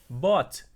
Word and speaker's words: bought: Então, inclusive, toda vez que vocês tiverem essa combinação de letras aqui, UG8, UGH, é mudo, ok? Então é como se literalmente nós falássemos apenas essas três letrinhas aqui, BOT, bought, ok?